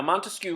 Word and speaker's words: Montesquieu: another Enlightenment thinker Montesquieu now Montesquieu remember three syllables three branches of government